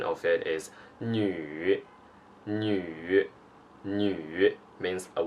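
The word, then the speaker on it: 女: is a character it means woman and the pronunciation of it is new new new it means a woman or a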